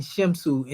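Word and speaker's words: Shemsu: In fact, I seen Shimsu, and you'll see this spelled sometime, S-H-E-M and S-U. So when you see this S-W at the end, it's U, Simsu, Su, pardon self.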